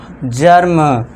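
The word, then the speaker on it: germ: इसी तरह जी ई आर एम जर्म। टी ई आर एम टर्म। वी ई आर B verb. आप और भी एग्जांपल ऐड कर सकते हैं। मैंने आपको बताया वर्ब टर्म। ठीक है दोस्तों? हर्ब जर्म जर्म मत पढ़ना जर्म।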